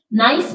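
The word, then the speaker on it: knife: में L silent है नाइफ में के साइलेंट है राइ में डब्लू साइलेंट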